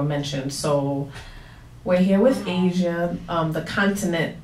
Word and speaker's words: Asiah: Asia has the age on it, so when people see it, they're like, Asiah, they don't know how to pronounce it. Oh. So I had to add pronounced, like the continent, Asia.